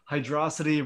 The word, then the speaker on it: Hydrocity: Hydrocity versus Hydro City. That's the one. Hydro City. Everybody always gets mad at him no matter how he pronounces it. I'm a Hydro City guy, not a Hydrocity guy.